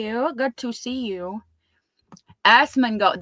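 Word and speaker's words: Asmongold: Assmongold. That's how you say it.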